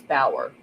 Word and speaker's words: Bauer: And I just heard the judge pronounce her last name, and it's Bauer.